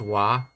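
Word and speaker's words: は: romanji is h a whenever you say this particle you pronounce it as wa you wide it write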